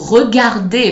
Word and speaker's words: regarder: Or the word regarder, for example, it has two R. You're going to hear the first one more, re, and the second one less, regarder.